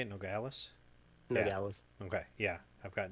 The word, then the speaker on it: Nogales: Nogales.